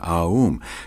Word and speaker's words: Aum: You start in the back of the mouth, ah, and then oo. You fill the mouth, and closes the mouth. When you pronounce this properly, all vowel sounds are included in the pronunciation, Aum.